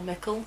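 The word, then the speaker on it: Mikkel: mikael this whole time when it it's more mickel so i'm going to try and say michael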